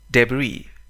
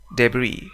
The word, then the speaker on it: debris: debris, debris, حطام, أنقاض. لاحظ أننا لا ننطق حرف S في النهاية.